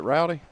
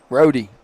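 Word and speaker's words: Rohdy: How do you say your name, son? Rody.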